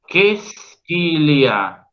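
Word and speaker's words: qu'est-ce qu'il y a: Quesquilia. Quesquilia. ¿Lo ven eso? Fíjense la cantidad de letras que no pronunciamos en total.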